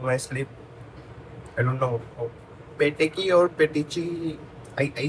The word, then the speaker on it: petechiae: So that's peteki. Till now, I did not worry about how I speak about peteki or petechi. So I googled what's the actual pronunciation. So this is the pronunciation. Petechiae or petiki.